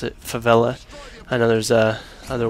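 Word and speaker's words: Favela: Destroy on flla and that is how you pronounce it favella I know there's uh other ways that people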